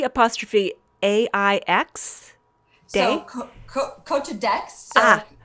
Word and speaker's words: Aix: You're going to have to help me with pronunciation, Jill. Cote de. D apostrophe A I X.